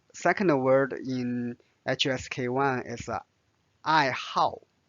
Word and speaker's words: 爱好: And the second word in HSK1 is I how. How. Notice this pronounced as a fourth tone.